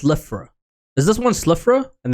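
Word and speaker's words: Slithraa: Okay, so it's pronounced Slifra.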